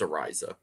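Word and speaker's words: Araiza: I just say punt god because I can't pronounce that. We'll just I'm call like him punt 100% sure it's Ariza.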